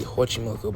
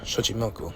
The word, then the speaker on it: Xochimilco: men from Xochimilco, and the X is not pronounced with the H sound, so it would be Xochimilco, but you look at Old Castilian as well as Old Nahuatl languages, and it was really pronounced with the sh sound, so it would be Xochimilco.